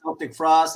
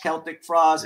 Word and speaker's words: Celtic Frost: I've always said Celtic Frost, even though I know it's pronounced Celtic Frost, but you know, I was thinking like this, like Frost.